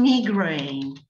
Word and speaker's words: migraine: But today, and if you look at the dictionary at the back, they have spelled the pronunciation migraine. So I made a lot of effort to remember the new pronunciation of the word.